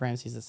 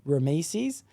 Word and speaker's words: Ramses: And this week I'll be talking about that son, and that's Ramses II. I'd like to say that I do believe I did say his name wrong in the past. I think I said Rameses, but that's just because